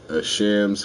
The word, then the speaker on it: Shams: shams ash ash shams the way it's spelled looks like as hams I'm sorry it does but shams Farrow manly Felix Kumi Keith Felix Kumi Keith Harrison McCloud jr.